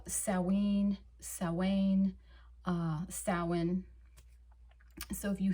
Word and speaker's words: Samhain: looks exactly like that, Samhain. Although that is not the proper pronunciation. It is a Gaelic term, so it has Gaelic roots, and when it comes